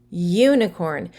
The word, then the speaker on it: unicorn: pronounce it y u unicorn so there is a y sound followed by the u unicorn in this instance since it sounds like a consonant even though it is spelled with a vowel the u we need